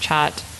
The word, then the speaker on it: khat: is there's this drug called khat sometimes it's pronounced chat mmm and a lot